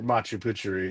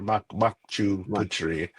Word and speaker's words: Machu Picchu: It's considered the other Machu Picchu or Machu Picchu, because you don't want to pronounce it wrong, because it has two different meanings: either the old man of the mountain or the old penis of the mountain.